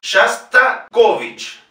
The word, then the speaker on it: Shostakovich: Fíjense, aquí tenemos tres O's, de las cuales solamente una puede tener el acento, que es la tercera. Es una palabra llana, por lo tanto, las otras dos O's la pronunciamos como A.